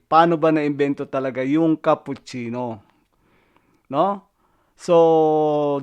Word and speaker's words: cappuccino: Paano ba na-invento talaga yung cappuccino? No? So, dumako naman tayo sa tamang pagbigkas. Cappuccino, hindi po cappuccino o cappuccino. Cappuccino.